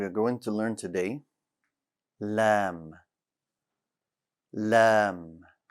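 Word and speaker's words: لام: tongue stays flat also the letter lamb does not have any air no air for lamb it'll be difficult to add air to lamb anyways common mistakes this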